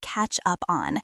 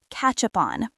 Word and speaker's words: catch up on: Let's practice the pronunciation of catch up on. Because when we speak fast, it sounds like one word. Catch up on.